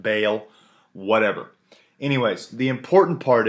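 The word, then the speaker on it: Baal: dedicated to bale b-a-a-l i say ball apparently it's pronounced bale whatever anyways the important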